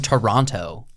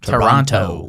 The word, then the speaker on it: Toronto: and he calls it Toronto the whole film every every Canadian was like if I learned from uh we don't call it what's his name Jordan Peterson Toronto that second T is silent and I don't think